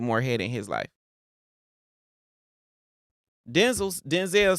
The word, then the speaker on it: Denzel: Hey yo, King, like Royalty said, I love Denzel. So just for people who don't know, like Denzel Washington, his name is pronounced Denzel.